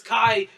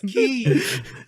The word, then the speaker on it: Ki: But I mean, That's why if you say it's Goku's charging up his Kai, you're stupid. It's Ki. yeah, but I mean, Just like the other protagonist, okay, Kamoku Ki.